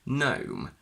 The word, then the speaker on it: gnome: For example, GN in initial position, where the G is completely silent. Gnome, gnaw, gnash.